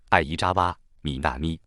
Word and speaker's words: 相沢みなみ: 香泽南的日文名字念作爱伊扎哇米纳咪，生日是 1996 年 6 月